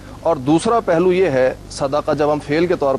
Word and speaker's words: صدقہ: جو صدقہ ہے اس کا صحیح تلفظ ہے صدقہ جو قرآن نے بھی استعمال کیا دال کی زبر کے ساتھ صدقہ.